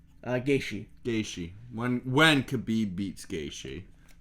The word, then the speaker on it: Gaethje: When Khabib beats Gaultier, or how do you say his name? Gaethje.